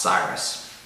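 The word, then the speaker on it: Seirus: It's S-E-I-R-U-S, I believe it's pronounced Cyrus.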